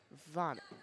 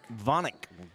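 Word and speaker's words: Vanek: Taylor is Taylor vanck is not pronounced vanic it pronounced vonik vonik got it and keep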